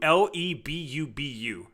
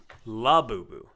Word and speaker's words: Labubu: Lebubu. Is that how you spell it? It's L-A. Labubu.